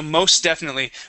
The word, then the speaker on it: most definitely: here most definitely so most definitely we would swallow that t so there's no need to pronounce the t there most definitely try that